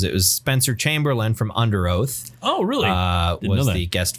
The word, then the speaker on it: Underoath: I think technically, if you're pronouncing it the way their logo looks, it should be like Under Oath.